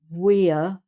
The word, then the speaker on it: we're: I'm, you're, he's, she's, it's, we're. That's almost two syllables there.